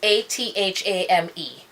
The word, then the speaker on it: athame: An athame is A-T-H-A-M-E. I've seen people pronounce it different ways. It's very hard for me to pronounce it that different way, other than what I know it to be, which is athame.